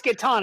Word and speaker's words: Catan: There's I know you asked people whether or not you pronounce it Catan or I can't even say it the other way. That's right. It's Catan.